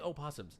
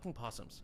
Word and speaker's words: opossum: that lives in or I keep saying opossums it's just possums I live on the west coast you spell it that way and the O is silent you've had enough of